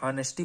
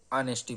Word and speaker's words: honesty: अब देखिए यहाँ पे बहुत लोग क्या होता है हॉनेस्टी पढ़ते हैं, बट यहाँ पे यच क्या है? साइलेंट है आपका, ठीक है, इसीलिए इसको क्या पढ़ेंगे? ऑनेस्टी पढ़ेंगे।